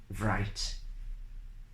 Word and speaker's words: write: think things like this pronouncing the w cell which is actually as a silent letter so it shouldn't be pronounced according to the international phonetic alphabet IPA and it's not the British kind of beer IP it's not Indian Pale Ale about international phonetic alphabet IPA according to the IPA these words should be pronounced without the W sound only they are sound